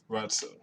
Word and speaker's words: Routsow: It's ROUTSOW. So Rotso, that's his name.